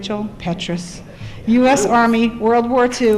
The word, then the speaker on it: Petrus: Petrus, did I say it right, Joel? Petrus.